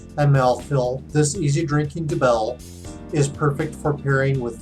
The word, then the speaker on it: Dubbel: Double or Nothing Belgian style Dubbel, which is technically how it's pronounced.